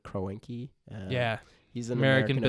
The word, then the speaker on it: Kroenke: I mean, ticket prices were ridiculous, and fans were protesting in the streets before games, complaining against, I think you pronounce his name, Kroenke.